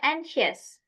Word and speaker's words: anxious: Yang pertama yang ini dibacanya anxious.